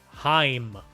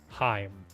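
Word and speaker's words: Haim: picture of these sisters it's Heim that's how it's pronounced h-a-i-m Heim let's move on round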